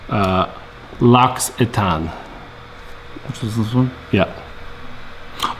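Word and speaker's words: L'Occitane: just relaxed it was fabulous someone's hoping you pronounce uh lax etan which is this one yeah oh the soap yeah loxiton okay oh your sister used to manage one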